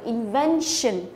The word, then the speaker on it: invention: Đây là có nguyên tắc này, có đuôi tion thì thường là trọng âm chính của từ sẽ rơi vào âm tiết ngay trước đó, tức là rơi vào cái ven này, đó, đọc là invention.